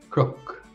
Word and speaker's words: cnoc: Well, the Irish for hill is cnoc. Cnoc. Cnoc. And that's pronounced differently in Connacht and Ulster. The pronunciation in the Connacht and Ulster dialects is crook, crook, and again, crook.